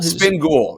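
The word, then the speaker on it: Spin Ghul: Is it Ghoul? Spin Ghoul. Yeah, Spin Ghoul. Just like a Batman villain.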